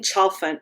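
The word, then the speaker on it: Chalfant: Kathleen Choffant and the way that she says to remember it is like it's like elephant chant.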